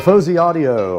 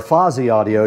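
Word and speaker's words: Fosi Audio: The Fuzzy Audio or Fozy Audio depending on how you like to pronounce it is sitting right in front of me here.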